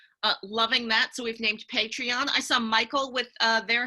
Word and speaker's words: Patreon: I'm pronouncing that correctly its patreon because you're a patron of the art world I have a patreon